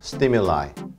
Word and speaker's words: stimuli: 그것이 i가 되면 발음도 I 이렇게 되는데요.